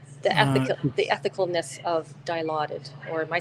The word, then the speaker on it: Dilaudid: that was just the ethical the ethicalness of Dilaudid or am I saying it right yeah Dilaudid for sure is a very strong narcotic so